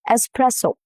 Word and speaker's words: Espresso: Espresso. No X sound at all. The S stays intact and the stress falls on the second syllable, which is press.